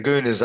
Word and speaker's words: guna: And then the goona means the qualities and the threads.